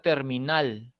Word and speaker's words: terminal: La palabra catedral, la palabra terminal, ¿no? Son palabras agudas.